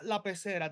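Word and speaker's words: La Pecera: Is La Pacera how you pronounce it? Yeah, La Pacera, the fishbowl.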